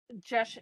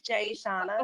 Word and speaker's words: Jashona: board uh and uh josh i'm sorry i'm mispronouncing your first name it's jake you can call me jay but it's jay shawna okay jay shawna thank you uh jashona bates owner proposes to